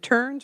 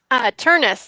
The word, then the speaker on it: Turnus: Is it Turns or Turnus? Turnus, like rhymes with furnace.